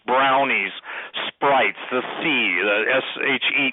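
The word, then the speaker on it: sidhe: sprites, the sea, the S-H-E-E, the she, which is spelled S-I-D-H-E.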